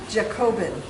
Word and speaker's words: Jacobin: This is White-necked Jacobin, I think.